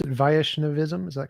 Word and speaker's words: Vaishnavism: me some more about uh how do you pronounce it vaishnavism is that correct vaishnavism yes vaishnavism right so within the Hindu complex of traditions